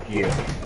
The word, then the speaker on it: GIF: It is pronounced GIF, and I don't care what the guy says.